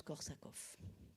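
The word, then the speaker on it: Korsakoff: j'en suis pas sûr c'est écrit soit avec un V soit avec un F soit avec de F en tous les cas ça se prononce corsakov en avant encore de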